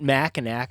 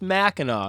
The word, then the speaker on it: Mackinac: Now, this is one of those things where people from Michigan pronounce it differently, so it's not Mackinac. Apparently, it's Mackinac. Apparently, that last C is cute.